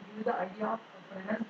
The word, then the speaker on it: Fresnel: If the source and spring, so first one will I will give you the idea of Fresnel's diffraction. S is silent.